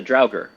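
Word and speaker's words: draugr: a dwarf it's a drer it's a drer drer like think think Skyrim zombies there same pronunciation there and um well I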